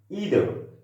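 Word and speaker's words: either: ইদার, এই উচ্চারণটাও একটা সঠিক, এবং আইদার বললে এই উচ্চারণটাও সঠিক। অর্থাৎ দুইটা যে উচ্চারণ আমি করেছি ডিফারেন্টলি, এই দুইটা উচ্চারণই সঠিক।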